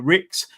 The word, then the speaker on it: Ricks: particular is is uh Ricks I think I pronounced it Ricky earlier but Ricks catch Pro